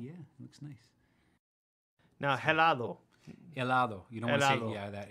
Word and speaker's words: helado: Now, helado. Helado. You don't helado. Want to say, yeah, that H is silent.